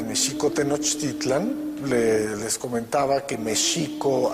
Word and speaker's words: México: tenochtitlan les comentaba que méxico así es como se pronunciaba en el méxico prehispánico la equis no se pronunciaba ni o nicks sino el acento estaba en la segunda sílaba méxico-tenochtitlan no tenochtitlán veces la pronunciación prehispánica que